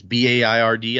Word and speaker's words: Baird: It's Baird. I assume that's Baird. That's how we pronounce the town near here that has that same name.